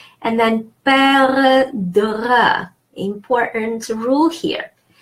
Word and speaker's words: perdre: And then perdre, important rule here. Perdre, E followed by 2 consonants are D, is pronounced E, like the word egg.